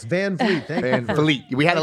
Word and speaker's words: Van Vliet: having us thanks for you did say it right yes Van Vleet thank Vleet we had